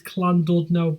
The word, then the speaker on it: Llandudno: Llandudno, or if you the proper way of pronouncing it is Llandudno, but I've always said it with an L because I'm not Welsh, though some of my ancestry is from Wales.